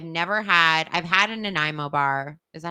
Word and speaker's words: Nanaimo: i know i've never had i've had a nanaimo bar is that how you say it yeah